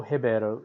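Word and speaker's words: Ribeiro: a difference here and what we would normally pronounce as roberto in uh spanish in portuguese is heber so this is gabriel hebeiro was the player concerned there uh you can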